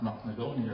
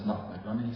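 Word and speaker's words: Knocknagoney: I've heard that place name pronounced Knocknagunny as a rule, but I was trying to find from East Belfast says Knocknagunny, so that's what I should be sticking to.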